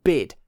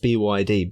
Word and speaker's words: BYD: I still don't know whether it's supposed to be BYD or BID, because I look at that, my brain wants to call it BID. I've only ever heard it pronounced BYD because it's the acronym.